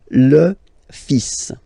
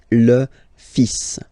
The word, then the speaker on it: fils: Okay, so it's le, and then even if you've got this L, well, basically you don't pronounce it, and then strangely you pronounce the final S, le fils, le fils, le fils, le fils.